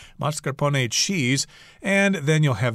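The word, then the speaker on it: mascarpone: the end silent but I believe in Italian you should pronounce the E there mascaron mascaron cheese and then you'll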